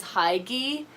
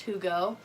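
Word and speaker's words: hygge: is a Danish word for the longest time I thought it was hi ghee and I kept saying that but it's actually pronounced whoo go and I got this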